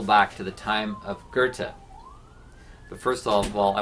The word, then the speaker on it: Goethe: Looks like Goethe, but pronounced Goethe, like Gerta. No R, Goethe.